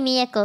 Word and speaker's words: Mieko: call me Mia no one ever calls me Mi Echo anymore which is kind of like what's the point of the last syllable man but it is back to hello